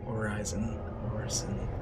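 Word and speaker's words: Hurston: And it's the headquarters of Crusader Industries, Horizon, that's how you pronounce it.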